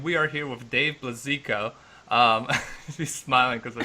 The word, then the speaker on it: Blazejko: Alright, I'm Vlad, this is Lexi, and we are here with Dave Blazejko. He's smiling because I said his name wrong.